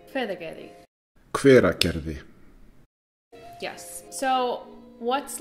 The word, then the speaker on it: Hveragerði: Hveragerði. Hveragerði.